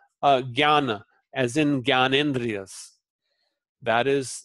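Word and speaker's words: ज्ञान: It is pronounced like gya. So for example, jnana, as in Gyanendriyas.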